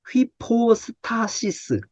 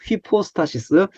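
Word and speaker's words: ὑπόστασις: 밑에 사전 내려가 보니까 여기 발음 나와요 휘포 스타시스 이거 쓰세요 휘포스터시스라고 이걸 읽으셔야 돼요 휘퍼스타시스 밑에 발음이 적혀 있으니까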